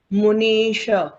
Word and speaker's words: मुनीश: मेरे पीछे एक जन बोलेगा सोहम सोहम तथापि तथापि तव तव भक्ति भक्ति वशान वशान मुनीश मुनीश मुनीश नी दीर्घ है मुनीश मुनीश कर्तुम कर्तुम कर्तुम उसमें